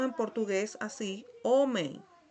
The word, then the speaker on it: homem: Que la pronunciamos en portugués así, homem, homem. Cuando está esta M, esta I, esta E con una M, se pronuncia como si tuviese una I antes de la M, homem.